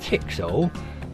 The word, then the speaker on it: TX-0: MIT was the home of the TX-0 experimental computer, affectionately referred to as tixo (pronounced "tix oh").